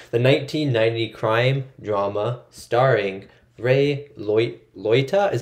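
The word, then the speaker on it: Ray Liotta: get this out the 1990 crime drama starring rey loyta is how you say his name robert de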